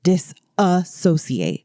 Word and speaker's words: disassociates: So, I want you to understand Tyler is very clearly saying disassociates. Oh, yeah. There's that extra syllable in there because what disassociation is